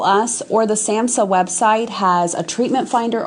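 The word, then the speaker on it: SAMHSA: another group called it's an online group called Samsa gov and it's a government agency and it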